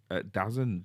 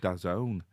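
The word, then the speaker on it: DAZN: well I was c I thought it was dazzen d a zn but apparently it's pronounced dazone which is this sport app which you can log into and watch the NFL games live.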